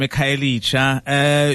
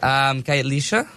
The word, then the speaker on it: Khayelitsha: KVSA, all the way from Khayelitsha.